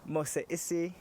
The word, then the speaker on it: Mose Issie: I'm here with the lovely Elle, aka Mose Issie. Did I say that right? Yes. Is that good? Is that good pronunciation?